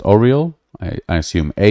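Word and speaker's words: Aureal: heard uh oh real i think it's pronounced oriole i i assume a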